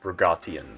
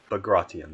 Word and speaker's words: Bagration: Bro Reale said that it's pronounced Bagration, right? Bagration, there we go.